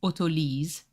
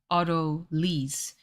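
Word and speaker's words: autolyse: you do orderly oh in French it's otolis so it's Auto lease which is basically where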